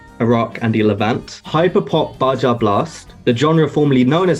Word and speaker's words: Baja Blast: So we say Baja Blast. In Spanish, the J is like an H.